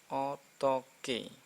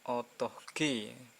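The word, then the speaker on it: 어떻게: Rini contoh hai oh Hai Pokoke ottoke jadi hanya tak dianggap terus ini yang samar jadi jelas eotteoke eotteoke Hai bukan autogg bukan Hai lihat tak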